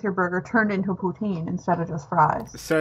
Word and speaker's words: poutine: Yeah, no, it's poutine. There's probably a better way of pronouncing it.